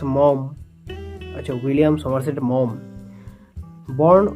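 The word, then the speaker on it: Maugham: by William Somerset mam William Somerset mam pronounced mom a William suet mom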